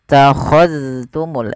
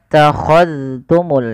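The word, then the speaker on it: اتَّخَذْتُمُ: Summa takhadtumul. Ini jangan summa takhadtum, jangan diidghamkan ke huruf ta, tapi zalnya ditampakkan dengan jelas. Summa takhadtumul ijlah.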